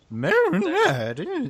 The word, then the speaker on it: Marinette: Marinette.